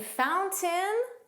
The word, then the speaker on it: fountain: The T in fountain was pronounced.